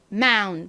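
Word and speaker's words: mountain: 나니까 읽어보면 마이 됩니다 마운이 단어에는 강세가 튼 부분에 있는 것이 아니라 앞부분 마운 부분에 옵니다 그래서 마운이 아니라 앞에 강세를 빡 줘야 돼요 마운 마운 이렇게요 따라해 보세요 마마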